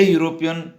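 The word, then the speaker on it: European: ही इज ए यूरोपियन by birth. विद्यार्थियों, यहाँ भी हम देखते हैं यूरोपियन ई से स्टार्ट हुआ है, लेकिन उच्चारण यू की आ रही है, इसलिए यहाँ पर भी हमने आर्टिकल ए का उपयोग किया है।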